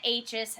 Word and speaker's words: high: is our vowel and the G and the H is silent there are silent consonants